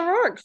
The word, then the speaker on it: Rourke: Rourke, did I say it right? Yeah, Rourke.